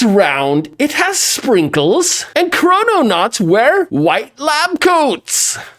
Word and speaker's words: Chrononaut: delicious doughnut in fact chrono knot rhymes with doughnut mmm but is it